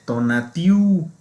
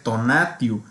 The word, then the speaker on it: Tonatiuh: ahí pues escuchamos como la señora mexicana dice tonatiuh está incorrecto debe ser tonatiuh otro sería este por